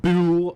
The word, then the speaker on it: Buhl: Yeah, Buhl, Idaho. It's spelled B-U-H-L.